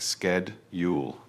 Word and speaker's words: schedule: In America, they pronounce it with a k sound like sked ule. Both are correct, but since we are learning British English, I encourage you to use the shh sound.